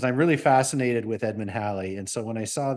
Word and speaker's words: Halley: Essentially, we all know Halley, and we please pronounce it Halley, not Haley.